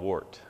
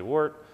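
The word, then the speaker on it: wort: the mash ton uh it's called wart uh w r t some Brewers say wart some say wart uh you know tomato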